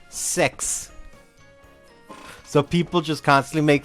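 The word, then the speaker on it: sechs: In German it is called patile de sex with sex meaning six specifically written s e c hs but you pronounce it sex.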